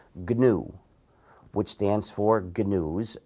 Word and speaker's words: GNU: But when it's the name of our system, it's pronounced GNU. Never pronounce it new. You'll confuse people.